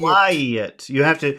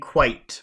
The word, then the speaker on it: quiet: quiet. You're saying quite, but it's quiet, which is very different.